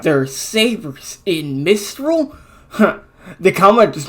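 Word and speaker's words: Sabyr: Like, Saber is spelled S-A-B-Y-R. Okay, like, if this is quote-unquote the RWBY way we rename things, like Takeo style, it really should be pronounced Saber. And I'm gonna die on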